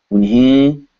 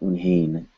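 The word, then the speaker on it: उन्हें: Unhe, not unhain.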